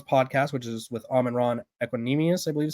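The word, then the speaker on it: Equanimeous: Brown's podcast, which is with Amon-Ra Equanimous, I believe is how you say it.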